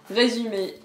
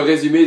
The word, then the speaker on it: résumé: Résumé. Donc résumé. Résumé, ça veut dire CV. Donc nous, on utilise CV pour un CV. Ouais. Et en gros, c'est logique. C'est Ouais. le résumé de votre C'est- parcours.